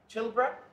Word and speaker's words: Choolburra: and they said Sean chra you're not from the pilra I said no but it rhymes with pilra and they said we